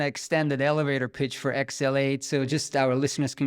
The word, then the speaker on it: XL8: Meaning sometimes X can be pronounced as trans so when you read it, trans, L, 8, it's translate, so we are a